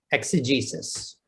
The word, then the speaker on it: exegesis: e g and how do you say it exegesis all right i'm gonna tell you a problem